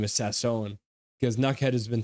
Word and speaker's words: Sasson: has come out and said his name is pronounced Sasson so everyone who watches nuad should know that his name is Sasson because nuad has been pronouncing it properly so